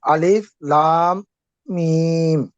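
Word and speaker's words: الم: এই জন্য আলিফ লাম মিম, মানে এখানে এই জন্য তাসদিদ আসছে।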